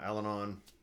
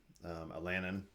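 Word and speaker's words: Allanon: They encounter Alanon, Alanin, how I always said it, and we're off.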